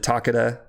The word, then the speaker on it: Takeda: um Takeda takita um fourth snake pronounces it Takata because in Japan it's pronounced Takata um well that maybe